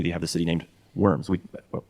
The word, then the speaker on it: Worms: Like in Germany, they have the city named Worms. Well, they might pronounce it Worms or something different, but that Verms.